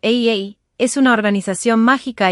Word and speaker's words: A∴A∴: La a que se pronuncia como AA es una organización mágica